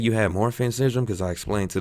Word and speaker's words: Marfan: She even mispronounced it. What is it? Motrin syndrome. I was like, Marfan syndrome.